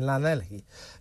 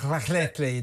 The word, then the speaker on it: Llanelli: And one of them is the Stradey Park Hotel in Llanelli. That's not a very good pronunciation, is it?